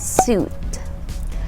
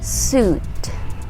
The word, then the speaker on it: suit: the next word is not pronounced as sweet it's not pronounced that way it is actually pronounced as suit suit yes say it okay